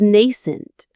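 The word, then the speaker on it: nascent: This initial small feeling of peace is nent. Here is a beautiful word. Nent. The stress is on the first syllable.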